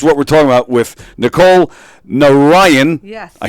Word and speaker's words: Nicole Narayan: This is what we're talking about with Nicole Narayan. Yes. I said it right? Yes. Nicole Narayan.